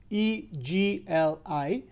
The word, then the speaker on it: egli: other, in this case, G and L together form the unique sound of L, egli.